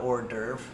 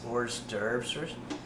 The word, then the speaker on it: hors d'oeuvre: The French call it hors d'oeuvre. The English pronounce the S, hors d'oeuvres.